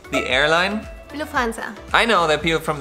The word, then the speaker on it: Lufthansa: The correct way to say it is Lufthansa. It sounded the same. No, the other one is Lufthansa and this one is Lufthansa. So the U is shorter.